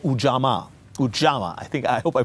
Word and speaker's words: Ujamaa: He was president of Tanzania from 1964 to 1985, and he tried a system of government called Ujamaa. I hope I pronounce it right. Ujamaa, because I'm not Tanzanian, I'm Nigerian.